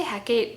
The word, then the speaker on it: Hecate: I say Hecate, but it's written out phonetically as Hecate in the book.